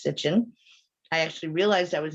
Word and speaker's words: Sitchin: I always want to put a T in there, but his last name was not Stitchin, it's Sitchin.